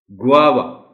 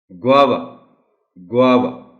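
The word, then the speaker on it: guava: एक कि पहली जो साउंड है जी यू ए की, वो वा की साउंड है यानी ग्वा, और वी ए की जो साउंड है इसको लंबा नहीं करना. ग्वावा.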